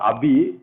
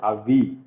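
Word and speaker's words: אבי: So now this is not abi. This is you have to pronounce it avi. Avi. Pronunciation will be like avi, but the transliteration is abi.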